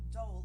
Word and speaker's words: dhole: You pronounce it dhole, is an endangered species that lives in Asia.